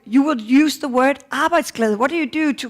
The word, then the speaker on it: arbejdsglæde: And to help you pronounce it, you can see here, it's almost like this, arbejdsglæde.